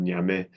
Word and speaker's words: Nyame: I guess if there are any Ghanaians on the webinar, I better pronounce the last name Nyame, as it is in Ghana.